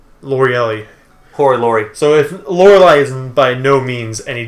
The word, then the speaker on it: Lorelei: Lorelei. That's how you pronounce her name.